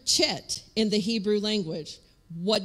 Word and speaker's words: Chet: So don't get stuck on that if you're used to just spelling it C-H-E-T. They pronounce that chet.